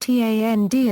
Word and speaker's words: Thandie: The name Thandie means beloved in Ndebele, Zulu, Xhosa or Siswati, and Thandie is pronounced Tand in English.